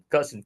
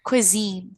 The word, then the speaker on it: cuisine: We say it like it's like Q W E zine, Ah, co- cuisine, cuisine. cuisine, Yes, but it's not spelled like that.